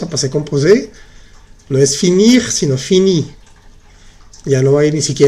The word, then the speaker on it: finir: Sí se pronuncia. Se dice finir, agir, choisir. Pronuncias bien la R al final.